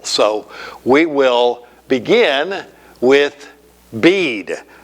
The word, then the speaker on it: Bede: man is, this Venerable Bede, and it looks like it might be in English BD, but they do not pronounce the E. It's the Venerable Bede, as in B-E-A-D.